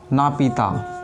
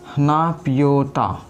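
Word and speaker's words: Naypyidaw: नापीता। ठीक है ना, या फिर कहीं कहीं आपको दिखेगा यहाँ पे नापियोटा।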